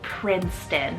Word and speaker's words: Princeton: like my taste in names it's the name Princeton it's about p-r-i-n-c-e-t-o-n Princeton so Regal but it has this cuteness